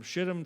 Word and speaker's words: Shittim: And I went, "That's exactly how it's pronounced. Yep, from Shittim to Gilgal."